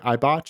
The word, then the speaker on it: Eibach: Eibach?